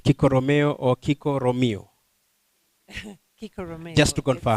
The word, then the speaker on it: Kiko Romeo: Kiko Romeo. Just to confirm. It's Swahili. Swahili. Yeah. Aha. You can pronounce it the other way, no problem.